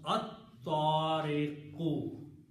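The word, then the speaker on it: الطارق: And in the pronunciation, Ta will kill the sound of Lam. So you will pronounce At-Tariqu.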